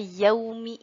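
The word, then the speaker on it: يومِ: Nah, mim di sini kita baca dengan harokat kasroh. Nah, biasanya seringkali kita membaca ketika kata yauma idzin. Mim di sini biasanya dibacanya harokat fathah. Tetapi pada surat Hud ini ayat 66 kita baca dengan harokat kasroh menjadi yaumi.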